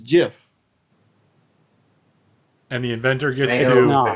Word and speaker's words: GIF: But when you pronounce it, according to the inventor, it's GIF.